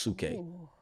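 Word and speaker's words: ψυχή: nerdy bag, but like the word we get soul from is suk in the Greek, but it's ps y c e. It's just pronounced suk.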